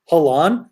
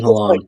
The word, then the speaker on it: Haaland: Halan? I thought it was Halas. No, Erling Haaland.